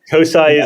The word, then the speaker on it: CoSAI: an approved acronym coai I think coai is what coai is the approved pronunciation of it coai cool okay awesome